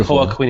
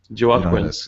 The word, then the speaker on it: Joaquin: And you're like, I think Hoa Queen enjoyed that goal too much. People. Who the fuck is Hoa Queen? That might be the worst pronunciation of Joaquin I've ever heard in my life.